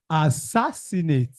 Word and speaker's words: assassinate: The last one. Second syllable. What is this? Assassinate. Sass. Everybody say that.